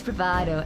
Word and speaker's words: bravado: decided not to take take me up and pronouncing the V bra it's bravado anyway Rado type it in chat so you